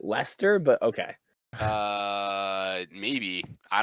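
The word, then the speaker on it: Leicester: so i i think the normal person pronounces it lester but okay uh maybe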